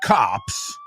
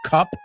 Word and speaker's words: cop: Two newly paired cops. Ya sabes pronunciarlo, ¿no? Que no es cup or cap. It's cop.